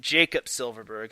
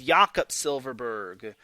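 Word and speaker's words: Jakob Silfverberg: Just like how everyone calls Jakob Silverberg Jacob Silverberg. And I'm like, no, it is Jakob Silverberg, not Jacob.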